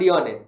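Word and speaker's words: Dionne: पीएम पीएम is Mohammad योने Mohammad योने योने के spelling है डीआईओ एन एनी डी आई ओ एन एनी इज the prime minister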